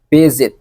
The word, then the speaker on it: visit: The correct one is visit, use Z, right? Visit, not visit, with accent Palembang.